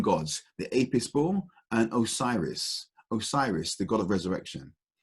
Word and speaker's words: Osiris: of their own gods, the Apis bull and Osiris. Osiris, the god of resurrection, the savior god, effectively. No, Horus is the savior god. The god of resurrection, Osiris, and he was known as Osar. Osiris is the Greek word for him.